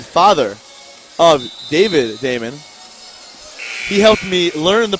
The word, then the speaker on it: Damon: Thank you to Jeffrey Damon, father of David Damon. He helped me learn the pronunciation of his son's name.